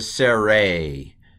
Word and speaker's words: sere: It's a sere. Sere. A long E, even though it's pronounced A.